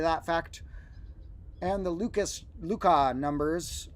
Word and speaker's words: Lucas: fact and the Lucas Luca numbers often called the Lucas numbers but his name probably would have been pronounced more like Luca and so the Luca